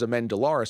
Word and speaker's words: Amendolara: pronounce my name but my name's amendolara so people would go amenda am and they didn't really know how to because it's a different stress right in that last syllable so